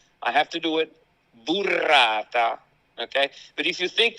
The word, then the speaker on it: burrata: I'm going to pronounce it in a very Italian correct way. So I'm going to roll my R's and all that. All right? I have to do it burrata.